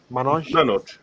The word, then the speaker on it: Manoj: Manoj.